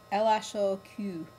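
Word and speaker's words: L.H.O.O.Q.: If you say the letters L-H-O-O-Q in French, the way they're pronounced in French, L-H-O-O-Q, that sounds, it's a homonym for, or a pun on, a sentence. The sentence is, translates loosely as, she has a hot ass.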